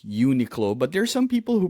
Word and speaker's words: Uniqlo: For me, it's Uniqlo, but there's some people who pronounce it Uniqlo. Like I saw Really? YouTube, yeah, Uniqlo. My brother in the Philippines pronounces it Uniqlo because it's unique clothing.